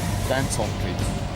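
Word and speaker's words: Dantomkeith: Dan Tom Keith. Dan Tom Keith. Daniel Thomas Kira, my 3 children.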